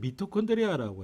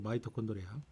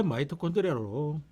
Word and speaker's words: 마이토콘드리아: 자, 옛날에는 미토콘드리아라고 했습니다. 근데 교과서가 바뀌어가지고 마이토콘드리아. 원래 마이토콘드리아로 발음을 합니다.